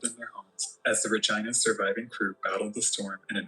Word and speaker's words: ReGINA: I mean, like, to be clear, it's legitimately spelled ReGINA. ReGINA. It's spelled ReGINA. Here I am thinking he's saying vagina.